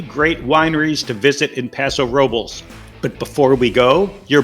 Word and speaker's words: Paso Robles: picks for three great wineries to visit in paso robles but before we go your bonus tip notice i've been pronouncing it paso robles you kind of expect to pronounce it like